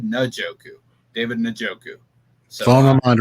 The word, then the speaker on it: Njoku: And I've been saying David Njoku for 5 years. It's David Njoku.